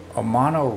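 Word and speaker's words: Omono: So I wish I could pronounce these towns a little bit better, but the Omano River, I believe is how you pronounce that. It's O-M-O-N-O.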